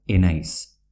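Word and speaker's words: ez naiz: Es nice, que quiere decir no soy, se pronuncia enais.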